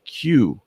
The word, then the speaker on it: QUE: And then I just realized that the name that he was using in Atlanta, he pronounced it Q, so it was spelled QUE.